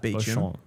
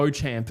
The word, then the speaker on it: Beauchamp: I have heard that Beecham, but I don't think I've ever cross-referenced it back to the phonetic spelling. But Beauchamp is never right, which is the way it reads phonetically.